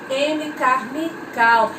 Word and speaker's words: Amy Carmichael: Se escreve Amy Carmichael, mas a gente lê Amy Carmichael.